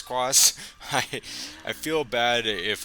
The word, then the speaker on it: Quas: got by that's ryan quas it's q-u-a-s that's i think it's cross i i feel bad